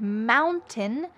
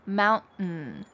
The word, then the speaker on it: mountain: And mountain becomes mountain. Mountain.